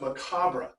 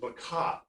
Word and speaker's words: macabre: It's pronounced macabre. However, modern pronunciation of macabre, well, macabre is an Anglo-Saxon word and not a French word. So if you pronounce it in French, it's macabre, but if you pronounce it correctly in English, it's macabre.